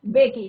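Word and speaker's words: Mbeki: थैबो बेकी। तो am silent है बच्चों यहाँ पे।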